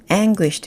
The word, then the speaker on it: anguished: 발음을 한번 더 들려드리면 anguished 이렇게 됩니다. anguished 앞쪽을 세고 강하게 anguished 이렇게 읽으시면 되고요.